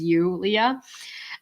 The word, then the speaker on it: Yulia: Sorry, I'm giggling because I spelled my name as Yewleea because I thought it would be like way back when, because I thought it'd be like easier for people to like pronounce, because Yulia.